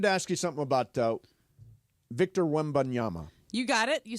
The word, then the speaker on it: Victor Wembanyama: I wanted to ask you something about Victor Wembanyama.